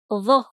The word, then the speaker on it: ظ: The sound is ظ. ظ. It's one of the emphatic sounds.